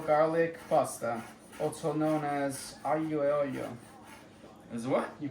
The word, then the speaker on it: aglio e olio: I'm just cooking a simple olive oil garlic pasta, also known as aglio e olio. Is what? You pronounce that?